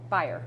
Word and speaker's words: Beyer: Shelby how do you say your last name berer berer okay and she lives 30 minutes from